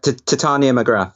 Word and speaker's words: Titania McGrath: alter ego, Titania McGrath, if that's how you pronounce it, McGrath, Titania. Yeah, Titania McGrath.